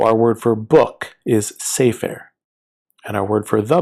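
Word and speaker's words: סֵפֶר: So our word for book is sefer, and our word for the book is ha-sefer.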